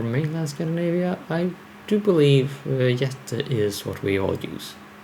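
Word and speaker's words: jätte: Jette, by the way. I mean, I not know that they wrote it out differently. But that is how you pronounce giant in well, and in at least Swedish.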